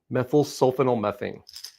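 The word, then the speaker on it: methylsulfonylmethane: Yeah, methyl sulfonylmethane. Methyl sulfanylmethane.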